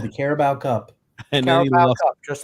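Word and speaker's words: Carabao Cup: read it off right he lost two um caribo Cup finals caribo cup caribel it's caribo Grump I pronounce that correct um so he lost two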